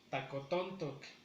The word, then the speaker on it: tacotontoc: Igual, la mayor fuerza, el acento lo tenemos en la tercera sílaba, que es tacotontoc.